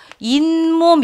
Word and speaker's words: 잇몸: 잇몸 이렇게 발음되잖아요. 니은이 첨가되죠. 니은 첨가잖아요.